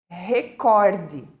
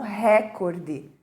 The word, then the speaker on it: recorde: como se fala né embora a correta escrita e até mesmo pronúncia é seja recorde né não recorde mas nós escutamos muito com acentuação na primeira sílaba muito bem agora nós